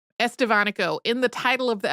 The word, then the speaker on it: Estevanico: He's usually called Estavanico, also spelled Estabbono because V and B have very similar pronunciations in Castellian Spanish.